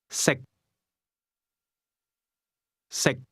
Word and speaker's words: 食: 識， The difference between the two is that can is spoken with a high level tone, and to eat is pronounced at a low level.